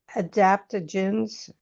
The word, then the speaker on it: adaptogens: Um, I was reading, some of your information that The Stursi line, there are no adaptogens.